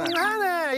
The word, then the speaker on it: 정한해: 정이라고 안 하잖아요. 그러니까. 네. 정이라고 하죠. 정이라고 안 하죠. 정하네. 이랬어야지. 정하네.